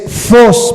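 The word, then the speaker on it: φῶς: de que lo apunten, es phos, pero se escribe PH, en vez de F, PH, y esa es la palabra phos en el griego. Ya de ahí escribes OS, phos, PHOS, phos.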